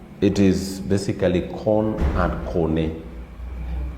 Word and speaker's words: kone: Kone. Kone and corn. It is basically corn and kone. In English, it's pronounced as corn, but in the Luo, it is kone.